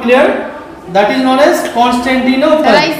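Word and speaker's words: Constantinople: Okay, pronunciation is not clear, that is known as कॉन्स्टेंटिनोपल।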